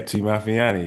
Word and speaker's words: T Mafianie: they might say, okay, am I saying it right? T Mafiani? Yeah, T Mafianie, you saying it Okay, there perfect, we go.